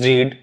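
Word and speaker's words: read: हमने कहा Raju has रीड English रीड doubt मत करिएगा क्योंकि स्पेलिंग दोनों की सेम होती है। पढ़ते इसको रेड है।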